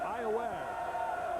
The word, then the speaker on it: Iowa: Yeah, not Iowa. It's spelled like Iowa, but it's Iowa.